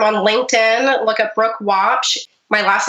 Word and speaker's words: Waupsh: Look at Brooke Watch. My last name is spelled w au psh and just reach out and message me there.